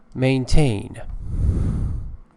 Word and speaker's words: maintain: Maintain. Maintain means keep up, carry on. Uphold. Uphold means support. Support, declare to be true. And the noun form is maintenance. Remember the shift in pronunciation, maintenance and maintain.